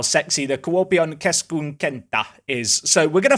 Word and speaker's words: Kuopio: No idea what to expect from Kuopio's ground. We'll find out in due course. Also, it's not said Kuopio, it said Kuopio, but it sounds weird when I say it like that.